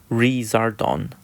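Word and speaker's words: リザードン: burn and lizard it's Japanese name is Lazar dawn pronounced razor dawn which is a combination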